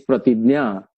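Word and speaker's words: प्रतिज्ञा: many ways people pronounce the correct pronunciation I would claim is pratigya and with me on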